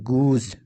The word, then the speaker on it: goose: GOOSE, এখানে দেখো ই এবং ও এর মাঝে এস রয়েছে, তাই এস লেটারটির উচ্চারণ হবে জয়ের, গুজ।